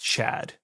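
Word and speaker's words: Čad: So, it's C A D, but it's pronounced Chad.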